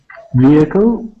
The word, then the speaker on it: vehicle: Yeah, so class, when we pronounce the word vehicle, just how Imad had said it, we do not pronounce that H, okay? So instead of saying vehicle, we pronounce it more like this.